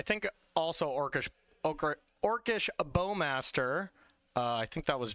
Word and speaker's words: Bowmaster: your name is pronounced bowmaster. Yes, that's true. I honestly do stumble over it because I'm so used to saying orcish bowmeister on my stream, but I've truly ruined myself.